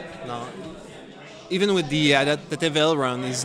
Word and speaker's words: aileron: It's a French word, I think. Aileron. Mm-hmm. You say aileron, so it's written the same, so...